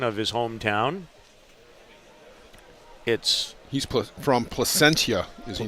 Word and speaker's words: Placentia: Do you know the proper pronunciation of his hometown? He's from Placentia, is he not? Placentia, yes.